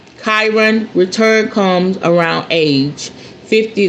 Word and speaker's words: Chiron: Uh, Chiron. Okay, that's how you say it. Chiron return comes around age 50 to 51.